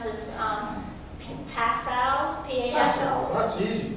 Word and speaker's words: Passau: And I don't know how to pronounce this, Passau, P-A-S-O. That's easy. It's beautiful. Passau, that's it, that's Yeah.